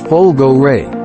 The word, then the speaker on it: Folgore: when we first saw the folgore pronounce it Pol go Ray by the way we